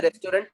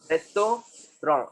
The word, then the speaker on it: restaurant: Next restaurant, we don't say restaurant, it is what? रेस्टोरेंट, रेस्टोरेंट।